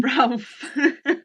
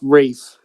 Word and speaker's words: Ralph: Ralph. Ralph No, Fiennes. it's pronounced Rafe. You're That's how actually he says it.